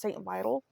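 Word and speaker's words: St. Vital: the now defunct St I believe it's pronounced St Vital police was in charge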